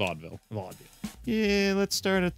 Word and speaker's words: Vaudeville: I don't know how you pronounce it's it. It's Vaudeville.